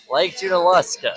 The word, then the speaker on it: Lake Junaluska: And now, I'm going to mispronounce this like I always do, so I'm going to let you pronounce it, Lake Junaluska. Lake Junaluska.